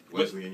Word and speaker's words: Wesleyan: All right, so I know you also have a radio show you do at, well, I keep pronouncing the school wrong. Wesleyan University.